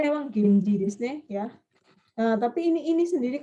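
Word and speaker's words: 源氏: Jadi ini bacanya memang Genji, ya.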